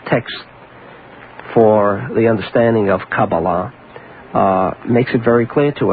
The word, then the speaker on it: Kabbalah: When did is it Kabbalah? Is that the way you pronounce it?